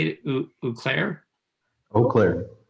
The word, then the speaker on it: Eau Claire: Eau Claire. Eau Claire.